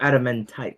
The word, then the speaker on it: adamantite: Like adamant and then tight. Oh, adamantite.